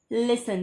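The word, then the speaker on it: listen: देखिए लिसन में तो T एकदम साइलेंट है, T की कोई आवाज ही नहीं है, वो बेचारा एकदम खामोश बैठा है, तो इसको हम बिल्कुल राउंड अप करेंगे क्योंकि ये एकदम ही साइलेंट है। T बिल्कुल साइलेंट है क्योंकि इसकी प्रोनाउंसिएशन होती है लिसन।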